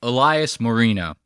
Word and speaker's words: Elias Marino: know you just say Elias Marino that's how you say like Dan Marino it's so funny as